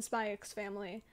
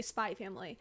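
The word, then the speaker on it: Spy × Family: just literally came out um and by the way I yeah I do pronounce the X in spy X family um no I I am never ever gonna say spy family all right but I'm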